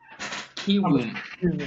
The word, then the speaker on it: Kiwoom: I got Kiwoom. That's how it's pronounced.